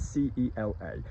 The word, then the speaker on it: cela: So we've got ceci and cela, C-E-C-I and C-E-L-A. Let's be very clear as well, C-E-L-A, cela, and C-E-C-I, ceci, are pronounced the same as C-E-U-X-C-I and C-E-U-X-L-A, the ones that we've